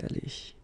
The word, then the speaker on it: allée: Phonetically, you don't hear it. It goes like aller, so exactly the same thing as here, or the same way. So, elle a été allée.